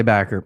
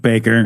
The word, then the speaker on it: Bakker: going to be talking about Jim don't say backer backer no don't Baker yeah the only reason I asked you specifically